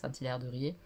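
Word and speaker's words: Saint-Hilaire-de-Riez: et saint-hilaire de riez parce que ça se prononce comme ça saint-hilaire de riez c'est hyper et ennui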